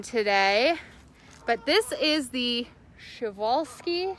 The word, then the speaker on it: Przewalski: but this is the schevolsky schevolsky horse technically correct so uh it it's pronounced chevalski's but it starts with a p as you can see